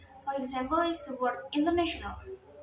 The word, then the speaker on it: international: example is the word International the word stress is placed on the third Sy it's on the N so the correct word way to read it is international the stress syel can